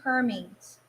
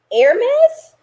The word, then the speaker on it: Hermes: places thank you hermes it's pronounced hermes air mess hermes you say potato